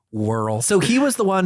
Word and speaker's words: W. Earl: It's actually pronounced Whirl.